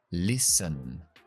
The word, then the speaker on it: listen: No se puede pronunciar la T. Listen. Listen. Empezamos con la I y terminamos con la schwa.